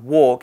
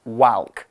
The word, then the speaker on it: walk: need to know about walk is it's one of those annoying English words that sounds different to how it's spelt we say walk but we spell it wal K so it's not Wow anyway a walk is